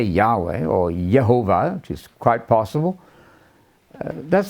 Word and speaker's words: Yehovah: Nehemiah Gordon has informed us that there are texts where the pronunciation appears to be Yehovah, and that's quite possible.